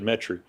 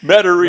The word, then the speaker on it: Metairie: You didn't keep the accent because you said Metairie. Yeah, you're right. Yeah. Got to refine ourselves a little. Try to. Metairie. Right, okay. Yeah, Metairie. But I didn't know it was a 3-syllable word.